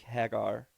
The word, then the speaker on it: Hager: real name okay it sounds like Mike Haggar at the mayor of that's actually how they pronounce it on the show is Jake Hagar hi okay I will